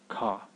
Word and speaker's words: ഘ: You say Ga and clip it with Ha, you'll get Ka, Ka.